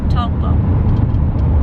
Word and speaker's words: Taupo: you say taupo correctly toggle that's the maori pronunciation another hazard on new